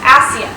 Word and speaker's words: ASEAN: deck the Association of Southeast Asian Nations, pronounced ASEAN.